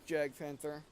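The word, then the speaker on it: Jagdpanther: Oh, the J-Panther's on fire, or he was. Or Jag-Panther. Whatever. I just say J-Panther because that's how it's spelled.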